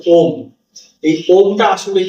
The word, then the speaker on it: ওম: কিন্তু সে উচ্চারণ করে যথা হচ্ছে আ উ আর ম এই সেই এই আ উ ম এই তিনটেকে নিয়েই কিন্তু শব্দ ব্যবহার করেই কিন্তু ওম উচ্চারণটা আসে আর এই ওম উচ্চারণ